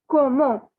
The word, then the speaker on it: comment: means how and it is pronounced as see i told you not all the words are pronounced in the same way as they are written so the pronunciation is komo okay please note down